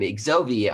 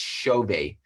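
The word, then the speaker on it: Xove: we already were calling xovi i'm going to exo-view and i landed there i realized very quickly that it's a portuguese pronunciation and it's it's pronounced chauvet um so everybody was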